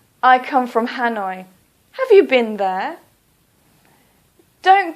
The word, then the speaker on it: Hanoi: so for example Hanoi please don't say h noi please say Hanoi or for example Kolkata